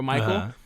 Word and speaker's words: Mykel: yet and it's myk-i-l-l-a because my name is spelled m-y-k-e-l for Michael so it looks like my killer so it looks like